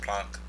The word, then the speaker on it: Planck: I'm pricing I wrong I think it's pronounced plunk but at the planks